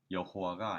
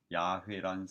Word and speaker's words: 야훼: 그래서 그 자음에 아도나이, 주님이란 모음을 혼합하여 여호와라는 발음되는 줄로 알고 지내던 중 20세기 학자들이 YHWH의 올바른 발음은 여호와가 아닌 야훼란 사실을 밝혀냈다.